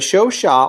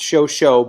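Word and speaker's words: Chauchat: four to six men the show Shaw or commonly mispronounced shosho by American soldiers was a light machine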